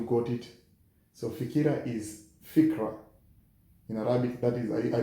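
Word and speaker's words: فكرة: believe that you got it so fikira is fikra in Arabic that is I believe that is the right pronunciation it is fikra now another word in Arabic or in SW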